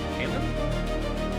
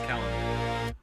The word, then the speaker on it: Kalen: Kalen. Caleb. Kalen. It's two L's. Ken is spelled with two L's, so therefore it's Kalen.